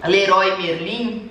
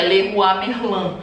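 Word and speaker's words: Leroy Merlin: assim a pronúncia entendeu Porque também na real a pronúncia de Leroi merlim é só no Brasil porque aqui eles falam do jeito francês que é lerua merlan então não vejo problema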